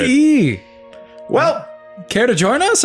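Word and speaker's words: Dugee: Like Doug, spacey e or douggee? I've never had to spell it being an eagle. So, I'm going to say d u g e e if I had to put letters to it.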